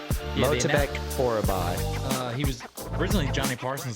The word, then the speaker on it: Myktybek Orolbai: Myktybek Orolbai.